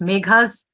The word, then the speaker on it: Megha: Meghna's Autumn Equation. Megha's, sorry, I keep pronouncing Meghna. Yeah, it's Megha's Okay.